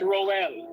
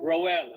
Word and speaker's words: Roel: Tell tell us how to spell uh pronounce your name. This is Roel. Roel.